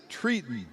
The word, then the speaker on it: Triton: They pronounce it Triton.